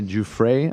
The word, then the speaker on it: Giuffre: Now, Virginia is Virginia Giuffre, I believe is how it's pronounced.